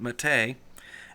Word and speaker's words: MATE: I know that's spelled mate, but we say it Mate.